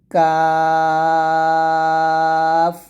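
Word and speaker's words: ق: কাফ এরকম পাতলা মানে কফটা মোটা করে উচ্চারণ করতে হবে আর এটা হচ্ছে কাফ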